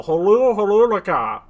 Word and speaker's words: Horulaka: Like I said, it's the Horulaka. What's the last letter in a Horulaka? It's HLHLHLK. Okay. Oh. Hola. No, holu, That's our own. laka. The third H is silent.